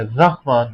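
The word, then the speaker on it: رحمٰن: کئی لوگ پڑھتے ہیں بے رحمت کا, رحمت کوئی لفظ نہیں ہوتا, رحمان کوئی لفظ نہیں ہوتا, رے کے اوپر زبر ہوتی ہے, رحمان ہوتا ہے.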